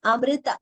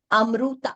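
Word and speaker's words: अमृत: First, it is Amrita. It is not Amruta. It is not U. Amrita, R.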